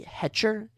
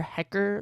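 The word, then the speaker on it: Hecher: It's actually Hetcher. H E C H E R. So I don't know if it's project pronounced Hetcher Sosa or Hecker Sosa. I'm going to say it's Hetcher.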